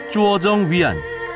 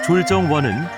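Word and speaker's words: 拙政园: 쭈어정 위안. 한국식 발음으로 졸정원은 수저우 4대 정원 중에서도 첫째로 꼽힌다.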